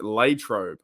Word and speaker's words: Latrobe: I found that too I found out it's pronounced Latrobe I think it's called Latrobe they're back at